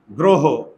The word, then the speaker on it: গ্রহ: এই যে গ্রহ, আর আমি তো লিখে দিয়েছি মুখের চোয়াল দুটি যদি বুজে থাকে, বন্ধ থাকে, তাহলে অয়ের উচ্চারণ ওকার হয়।